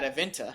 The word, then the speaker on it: Adevinta: And this company a Norwegian company called Adevinta, I think is how you pronounce it. Yeah, Adevinta.